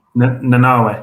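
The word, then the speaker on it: Nanaue: Nanawe.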